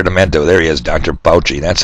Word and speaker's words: Fauci: oh yes dr demento there he is dr poche that's how you say it thanks bill we've